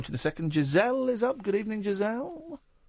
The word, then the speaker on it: Giselle: It's got a soft G. It's not a je. It's not je. It is a je.